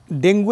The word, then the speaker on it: ডেঙ্গু: ডেঙ্গু এমনিতে আমাদের খুব পরিচিত অসুখ, যদিও মিডিয়াতে উচ্চারণের কারণে ডেঙ্গু হয়ে গেছে কিন্তু প্র্যাকটিক্যালি ডাক্তাররা হয়তো ডেঙ্গি বলেন, কিন্তু গণমাধ্যমে বাংলাদেশ ডেঙ্গু হিসেবে পরিচিত হয়েছে।